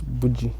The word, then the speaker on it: boujee: get the pronunciation because a lot of people say boogie boogie which one is the right one i think it depends on how it's spelled but i think naturally it's boujee okay yeah based on